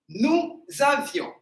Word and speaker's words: nous avions: There is I between V and O. Once again, nous avions.